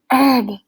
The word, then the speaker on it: herb: turned helplessly to Hannah herb she corrected with a whisper don't pronounce the h he nodded gratefully and